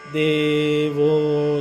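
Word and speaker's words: देवो: And remember that this letter, it does not have a long vowel marker, but it always is a long vowel. This and O, there's two, this one and the O here. So here is the best example. Devo, Devo, Devo. Okay? Long A and long O.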